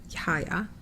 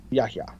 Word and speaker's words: Yahya: Yaya, right? Yeah. He says you have to say the H. Yaya. Yahya.